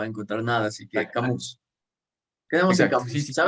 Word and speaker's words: Camus: Bueno, Camus, creo que es Camus porque es francés. Era un filósofo francés, entonces como los franceses son raros, usualmente las últimas eh, palabras, las últimas letras no se pronuncian, entonces como que Camus.